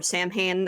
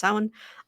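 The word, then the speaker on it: Samhain: but I I do celebrate sin um or Sam Han as some people pronounce it but it's it's correctly pronounced sin.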